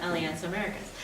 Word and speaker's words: Alianza Americas: So Alianza Americas is, and it's actually sounds like Spanish and hard to pronounce, but it's actually very simple. Alianza, like one alliance, Americas, all the Americas, right? Push it together, Alianza Americas.